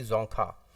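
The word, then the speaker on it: Dzongkha: Official language है इसकी जोंखा। D silent रहता है इसमें, और ये इसकी ऑफिशियल लैंग्वेज है।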